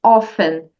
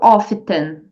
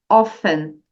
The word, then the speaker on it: often: plant percebe student que a palavra often tem a letra T ali bem no meio dela né mas você não pronuncia Você só diz often e não often não a pronúncia correta é often Então repita comigo often